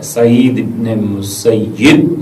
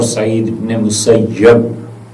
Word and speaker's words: سعید ابن مسیب: یہ بھی مخزومی تھے، یہ دونوں طرح سے پڑھا گیا ہے، سعید ابن مسیب اور سعید ابن مسیب، دونوں تلفظ اس کے درست ہیں، کتابوں میں جہاں ان